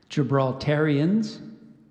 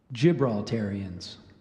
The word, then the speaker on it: Gibraltarians: gibraltarians eat those both one of them sure gibraltarians gibraltarians gibraltarians can I have the origin this word